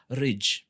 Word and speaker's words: RWJ: So hiyo inaweza kuwa pronounce kama ridge. Yeah. RWIJ, ridge.